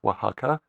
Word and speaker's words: Oaxaca: And today you live in Mexico for many years now, in this town, Oaxaca. Is that how I Yes.